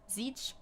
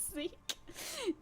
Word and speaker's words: Zecke: Zeech. There's many fun pronunciations by Anglophones of Zecke, and that is fine.